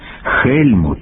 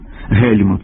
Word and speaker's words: Гельмут: слід передавати через г вимова Ханс хельмут хофман йоханесбург у російській мові виправдана бо там немає фрикативного г є лише Ґ і х а у мові українській вимова Ґ або х на місці г суперечить здоровому глуздові це майже те саме що замість голова гриб глина казати голова гриб глина або холова хрип хлина Отже Ганс Гельмут Гофман йоганесбург тут можлива